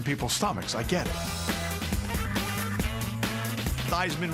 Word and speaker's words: Theismann: First of all, he changed his name from Theismann to Theismann to rhyme with Heisman when he was at Notre Dame.